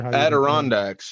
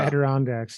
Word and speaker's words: Adirondacks: kind of really go into there I'm gonna mispronounce this but the Azure nod Dax I'm not really sure Adirondacks yeah Adirondacks yeah and there's kind of a permanent Frontier